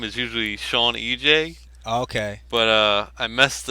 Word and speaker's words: Sewanej: all right cool now am I saying your name wrong when I say Swain J I don't know I actually spelled my uh my username wrong I usually do uh my game gaming name is usually Sean EJ okay but uh I messed it up so